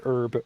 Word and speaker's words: herb: to say herbalore habitat as a Midwestern American I pronounce the word herb herb I don't say herb like a British person I keep wanting to